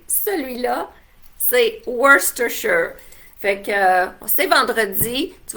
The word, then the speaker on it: Worcestershire: Fait que pour prononcer celui-là, c'est Worcestershire.